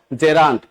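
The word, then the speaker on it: gerund: এই নাউনের সাথে দেখেনতো আইএনজি ফরমেট আছে তার মানে এটাকে আমরা কি বলবো জেরান্ট উচ্চারণ কি জেরান্ট নট জিরান্ট আপনারা ম্যাক্সিমাম এখানে ভুল করেন জিরা জিরা বলেন কোন জিরা টিরা এগুলি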